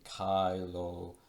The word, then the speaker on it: caelo: So in Classical Latin we would have in caelo et in terra with that hard C sound, but in Ecclesiastical Latin,